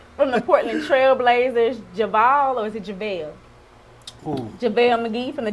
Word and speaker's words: JaVale: JaVale? Ooh. JaVale McGee from the Denver Nuggets. Yeah, it's JaVale.